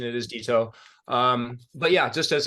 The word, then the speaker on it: DitO: dto dto okay so got the got the pronunciation it is dto um but yeah just as a claimer I